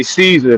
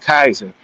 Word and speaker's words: Caesar: There is no soft C in Latin. It's all K. So when we say Caesar, that's not what it actually was. When they were saying it, they would have said Kaiser.